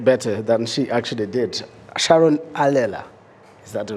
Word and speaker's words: Sharon Allela: Sharon Allela, is that the right pronunciation?